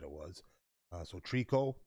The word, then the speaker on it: tricot: this here big time name of the ban is trico i would have pronounced the tricot thank you my gal